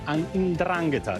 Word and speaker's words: 'Ndrangheta: Now, all the defendants were affiliated to the 'Ndrangheta, the organized crime syndicate from the southern region of Calabria. This is how you pronounced it, actually.